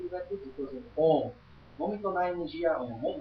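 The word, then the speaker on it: AUM: no Ocidente também, o Om, né? O Om, na verdade, a escrita dele é A-U-M. O O e M é a pronúncia.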